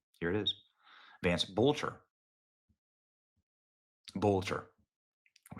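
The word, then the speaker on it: Boelter: Look at that, Vance Boatler. In case you're wondering if that's forged or fraudulent, here's the official documents of the Secretary of State of Minnesota. Here it is. Vance Bolcher. Bolcher.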